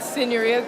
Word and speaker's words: Signoria: Pronounce it for us again? The Signoria, Piazza di Signoria.